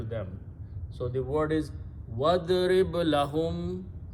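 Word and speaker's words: وَاضْرِبْ: So when waw and idrib will come together, we do not pronounce this alif in the middle. It becomes hamzatul wasal, which means don't pronounce. So you combine waw with dad, wadrib.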